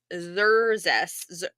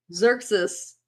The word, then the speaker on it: Xerxes: So for the women in the royal palace of King Xerxes, how are we saying his name? Xerxes. Xerxes, yeah. Xerxes. So the Z, right? Yeah, Xerxes. Yeah, it's an X, not a Z.